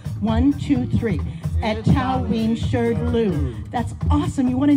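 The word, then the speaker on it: Etaoin Shrdlu: The first part is three syllables. Etawin. Here we go. One, two, three. Etawin. The second part is two syllables.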